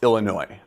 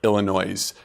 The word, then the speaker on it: Illinois: know about Illinois first even though it's spelled with an S at the end it's pronounced Illinois not Illinois's you never want to